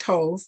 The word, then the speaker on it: Thoth: Thoth, pronounced Thoth, also known as Tahuti, is the ancient Egyptian ibis-headed god of writing, divine magic, and the moon.